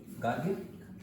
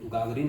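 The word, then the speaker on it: Гагарин: तो नाम था उनका यूरी गागारिन, ऐसे ना गागारिन। इंग्लिश में तो स्पेलिंग ये है ना, तो गागारिन होगा ना फिर, यूरी गागारिन।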